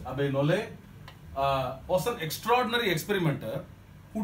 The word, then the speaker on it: Abbé Nollet: Another person who influenced him was a Catholic bishop called Abbé Nollet. T is silent, I guess, in French. Abbé Nollet was an extraordinary experimenter